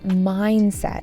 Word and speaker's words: mindset: But his mindset changed and that made all the difference. Mindset. Mindset. With an emphasis on the first syllable.